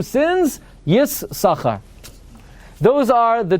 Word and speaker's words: Yissaschar: Li Yissaschar hakriya nechayna kedas Ben Naftali, the Heichal Bracha says, right?